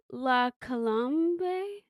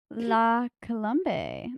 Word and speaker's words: La Colombe: from Trader Joe's love that place my I pronounce it wrong la colbe la colombe that's what I'm going to say I'm going